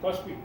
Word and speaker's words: KOSPI: Kospi.